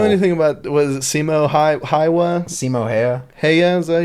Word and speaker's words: Häyhä: No, I think it's like Hayya. It's actually pretty easy, but it's got like the weird A.